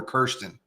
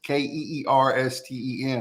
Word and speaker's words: Kirsten: the whole show, man, I called her Kirsten. Oh, and after the show, she was like, hey, it's Keersten, like that's the pronunciation.